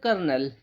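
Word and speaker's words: colonel: यह वर्ड ऐसा है जो कंफ्यूज करता है काफी। लेकिन इसको प्रोनाउंस किया जाता है कर्नल। कर्नल इसको प्रोनाउंस किया जाता है। तो जब भी आपको दिखे सी ओ एल ओ एन ई एल इस तरीके का वर्ड दिखे तो आप समझ जाने कर्नल लिखा है।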